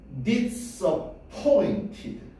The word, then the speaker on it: disappointed: 액센트는 뒤에 있네. 선생님, 요렇게 점 있는 게 있고 요렇게 점 있는 게 있는데요. 1강세, 2강세. 됐냐? 제일 강하게 발음할 거, 두 번째로 강하게 발음할 거. 됐어요? 그래서 어떻게 발음해야 돼? Disappointed. 됐냐? Disappointed. Disappointed. 됐니? T 발음 좀 그 니네 알지? Water가 아니라 Water라고 발음하잖아. 그죠? 이것도 Disappointed. Disappointed라고 발음하셔야 돼.